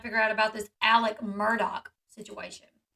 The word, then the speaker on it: Murdaugh: still trying to figure out about this Alec Murdock situation it's actually the correct pronunciation which is hard to reconcile with the